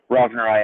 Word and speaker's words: rovneri: Rovneri, it's named after a guy named Jerry Rovner, and it's a species that's named after him, so it's Rovneri.